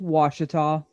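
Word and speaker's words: Ouachita: pulled up on my screen right now is pronounced washita a wadacha or as we like to say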